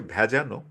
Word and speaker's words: ভেজানো: আয়েশা আক্তার তো এখানে একটা শব্দ আছে ভেজানো উচ্চারণটা ভেজানোই হবে মানে দরজাটা খিলাটানা ছিটকিনি